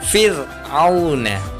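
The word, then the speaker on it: فِرْعَوْنَ: Maka harus dibaca tipis. Cara bacanya fir'auna, fir'auna, fir'auna. Nggak boleh dibaca fir'auna, fir'auna. Nggak boleh seperti itu, tapi dibaca tipis, fir'auna.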